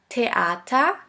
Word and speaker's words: Theater: Now the last letter combination, TH, TH, which is simply pronounced like a T. Here we have the example of the word Theater, Theater, which means theater.